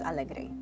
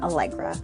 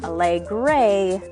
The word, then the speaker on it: Alegre: can't roll her R, I usually pronounce my name Alegre for the simple reason that I dislike it when people say Alegre because it makes me think of the color gray.